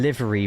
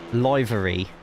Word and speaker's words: livery: Are you telling me I've been saying livery wrong all my life? Yeah, like a paint livery. Was you was you pronouncing it as libraryy?